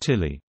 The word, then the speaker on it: Tele: It is known locally as the Telly, although this is pronounced Tilly.